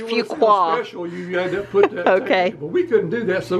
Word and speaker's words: Fuquay: we couldn't pronounce that we couldn't pronounce it French was it really a few quite a few quoi if you qua so if we want to sound specialist few quoi we couldn't do that